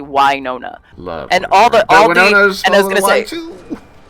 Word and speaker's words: Wynonna: it's not Winona like Winona Ryder. It's actually Wynonna.